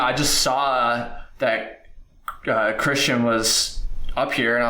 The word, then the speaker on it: Kristian: always Christian that's right yeah it's because it's spelled it's spelled differently um it's from the K yeah instead of like a you know CH anyways um so I